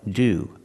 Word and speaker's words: to: restaurant in this case we pronounce two like do example go do fasty go to go to gorua go to a restaurant